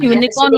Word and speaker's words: unicorn: And similarly, unicorn also has sound of Y.